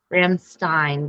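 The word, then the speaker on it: Rammstein: it should be fine Ramstein because that's how you pronounce e i in German that's how we say it I'm like all right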